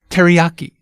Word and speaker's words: teriyaki: first the English pronunciation teriyaki see how we stress that yeah syllable ah now can we hear the original Japanese pronunciation KD yaki each syllable gets the same amount of stress hmm keep it even